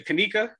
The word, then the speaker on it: Kanika: the spill it hi i'm gonna say your name wrong i'ma say kanika yes thank you i got it right i